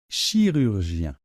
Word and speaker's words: chirurgien: vais donc le prononcer ça se prononce comme ça chirurgien chirur Gien chirurgien bien donc ce mot pose plusieurs difficultés et voyonsles une à une donc la première chose c'est le Chi Chi donc chi finalement ce son ch che n'est pas très compliqué parce qu'il existe dans beaucoup de langues d'accord c'est le Che de chocolat donc chi en général cette première